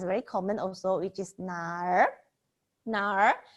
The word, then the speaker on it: 哪儿: 哪儿 the we need to round out our tongue, so maybe some of